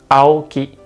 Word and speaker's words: Aoki: In Japanese, A is pronounced as A sound. For example, Steve Aoki. In Japanese, we say Steve Aoki.